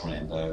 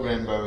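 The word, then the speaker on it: Rimbaud: And poet Rambo as well as the film Rambo. Yeah, their names are pronounced the same, but they're spelled differently.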